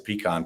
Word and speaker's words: pecan: the way he's he called a pekin pie i know you did was i know you're watching it's pecan but anyway that's fine so